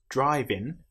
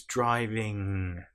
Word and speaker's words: driving: You'll notice it's not driving. And even some English people will pronounce this wrong depending on which part of the country they're from. It's driving.